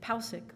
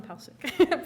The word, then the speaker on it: Palcic: You can say Palcic, Palcic, President of the Faculty Association. So, come on down. Of course, my grandfather would say it's pronounced Palcic.